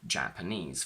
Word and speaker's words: Japanese: secondary stress on R same thing for Japanese for example a secondary stress appears in adjectives related to nationality ending in ease Chinese for example and